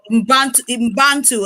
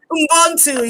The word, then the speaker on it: Ubuntu: That is what that spirit of Mbantu, I've been trying to pronounce that thing. Ubuntu, yeah, the spirit of Ubuntu.